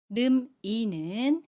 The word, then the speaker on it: 름이: 이름이에서 름이는 름이로 발음해요. 름이. 름의 받침 미음 뒤에 모음 이가 오면 미음이 이응 자리로 가서 발음해요. 그래서 름이라고 합니다. 연음이에요. 름이.